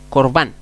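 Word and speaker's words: קרבן: La primera es Corbán. Corbán, aquí podemos ver la kamats es una O. ¿Por qué? Porque Corbán tenemos aquí una consonante, una vocal, y después tenemos otra consonante. Por lo tanto, podemos ver aquí que la vocal es O.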